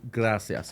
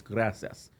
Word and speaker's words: gracias: Chubbs told the lady gracias or whatever, or he said gracias. I said, hey, you said it wrong. It's gracias.